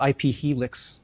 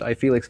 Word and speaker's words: iFelix: He was it's iFelix. I thought it was IP Helix for a while. It's actually he pronounces it iFelix.